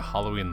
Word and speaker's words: Halloween: Halloween Halloween Halloween Halloween it is hello is correct because it's All Hallows Eve not Hollow but like it just